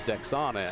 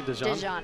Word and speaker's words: Dejana: Well, you know, before you pronounced Dejana, I thought it was Dexana, and that's our own Miss Spanish Fork, so, you know.